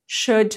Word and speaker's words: should: all will you ሳይሆን l is silent okay would you could should ብለን ነው የምናነበው እንጂ l we don't read l would እና should እና could ጋር ማለት ነው ስለዚህ